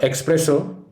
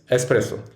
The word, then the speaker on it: espresso: word is espresso it's not espresso it's espresso while i can't express my word for espresso enough this word was borrowed from italian well after the latin prefix x had developed into s the next word is